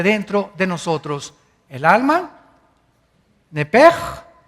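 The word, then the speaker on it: נפש: La palabra, la letra o las letras sh en del hebreo se pronuncian en hebreo como J.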